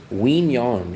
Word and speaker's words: Quy Nhon: Wong. It's spelled Q U Y. Second uh name is N H O N.